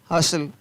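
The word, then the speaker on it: hustle: FASTN fasten, तो यहाँ पर भी टी का उच्चारण नहीं है। CASTLE काशल, JOSTLE जोशल, SUSTLE हसल, BUSTLE बसल।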